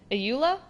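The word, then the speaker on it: Eula: So you must be, is it pronounced, Ayula?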